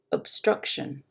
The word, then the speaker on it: obstruction: about that obstruction obstruction can you hear how i don't even really pronounce the o instead of saying ob i say it's a bit muddy right and it's lower up and shun are lower than struck which is higher obstruction so that gives you